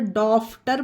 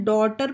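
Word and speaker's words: daughter: अगर आप इसे जी एच को फा का उच्चारण समझकर लॉफ्टर पढ़े तो यह गलत होगा ना तो इसे डॉटर पढ़ेंगे इसमें जीएस साइलेंट होगा तो आपको यह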